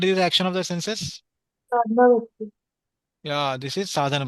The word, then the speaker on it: sadhana: Sadhana Bhakti. Yeah, this is sadhana bhakti, Sadhana. not sadhana.